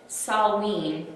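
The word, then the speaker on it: Samhain: originally call it Halloween they called it salween it's spelled s-a-m-h-a-i-n but they had this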